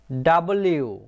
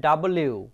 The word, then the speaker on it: W: এল, এম, এন, ও, পি, কিউ, আর, এইচ, টি, ইউ, ভি ডাব্লিউ। বন্ধুরা আমরা সাধারণত পড়ে থাকি ডাব্লু, ডাব্লু হবে না, হবে ডাব্লিউ।